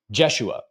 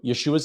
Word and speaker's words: Yeshua: the name, saying it Jesua. But in Hebrew, Yeshua's name ends with a guttural letter, the ain, which means that the accented symbol is at the end, not the beginning of the name.